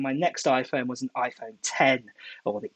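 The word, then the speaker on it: iPhone X: next iPhone was an iPhone 10, or the X, whatever you want to call it. I've been told the correct pronunciation is an iPhone 10. It's Roman numerals, the X is.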